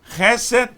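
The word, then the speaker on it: חסד: As palavras originais é Hesed, Emet, Sedek e Mishpat. Vou traduzir aqui, transliteral. Graça, Hesed. Hesed. Verdade, Emet. justiça, tzedek, tzedek, e juízo, mishpat, chesed, emet, tzedek, mishpat. Chesed se escreve het, com pontuação para E, Samer e Dalet.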